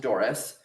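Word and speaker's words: Dory's: D O R Y apostrophe s pronounced Doris, but with an apostrophe suggesting ownership, contraction, turning away.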